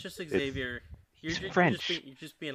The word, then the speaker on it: Xavier: They literally say Exavier. That is how they pronounce it. And then they write what we would normally say is Xavier, which is probably a name from another country that isn't English.